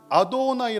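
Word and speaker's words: Adonai: 그래요 아 놓은 나이 그래서 유대인들은 아도나이 라고 읽어요 그런데 기독교인들은 여호와 야훼 라고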